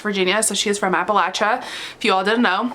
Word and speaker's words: Appalachia: book i will say they do say appalachia wrong if you say appalachia you're saying it wrong get your life together it's appalachia ellie talks about things that